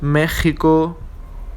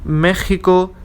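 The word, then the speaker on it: México: are Mexico and Texas, which in Spanish are pronounced especially as Mexico, Texas, okay, with the aspirating phoneme, which is equivalent to an English H. Mexico, Texas, okay?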